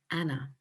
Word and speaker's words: Anne: soon shortened to anne and of course pronounced in the continental way of anna now i think this